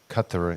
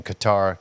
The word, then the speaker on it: Qatar: got to go to Kut as you I you know I've gone back and forth in the pronunciation Qatar cut I like the way you say it best I think you're more